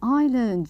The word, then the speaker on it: island: so this is an island very good don't forget that the s is silent so let's go and